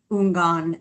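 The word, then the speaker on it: houngan: Because I was not sure how to pronounce unan. I would have pronounced the H and done it wrong.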